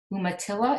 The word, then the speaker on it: Umatilla: shadow institute of the art located right there umatilla is how you pronounce it reservation umatilla yeah and that's in pendleton oregon so she's